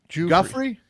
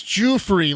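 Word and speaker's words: Giuffre: virginia gouffrey civil case pat how do you say that uh jeffrey guthrie it's like uh like the the mascot for toys r us guthrie joffrey yeah okay um that's civil case g-i-u-f-f-r it's jew-free like as when moses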